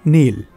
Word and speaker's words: Nihil: Aunque se escriba Nihil, se pronuncia Nil.